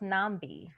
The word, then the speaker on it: Nambi: my name is pronounced nambi oh nambi oh thank you yeah my name is my apologies okay i've heard it pronounced differently different places but my parents chose to call me nambi and nambi was a